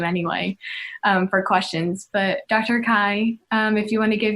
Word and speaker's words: Kai: Call me Kai. rhymes with sky.